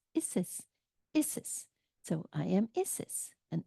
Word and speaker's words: Isis: How do you pronounce Isis? Isis.